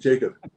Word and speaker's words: Jakub: right yes that's correct Jacob okay well it's pronounced like it might be Jacob and uh and so